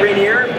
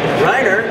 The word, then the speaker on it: Reiner: It's not Rainier, how do you say it? Reiner.